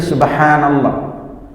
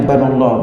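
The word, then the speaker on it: سبحان الله: Pertama di lafaz zikir subhanallah. Ini hati-hati mengucapkannya. Haknya itu panjang. Dia memakai huruf ha, bukan ha. Ha, subhanallah. Jangan sampai nanti karena kepingin cepat membacanya kita mengatakan subhanallah, subhanallah.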